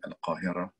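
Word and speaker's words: القاهرة: pronunciation, Istanbul, which is analogous to the difference between Al-Qahira and Cairo, the Arabic and the English pronunciation of the same city, Cairo al-Qahira.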